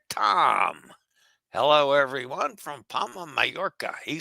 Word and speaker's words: Majorca: Uh, but um, yeah, it's properly spelled two ways. Mayorca, like hot air, Tom spelled it with the double a double L's or M A J O R C A and it's pronounced the same.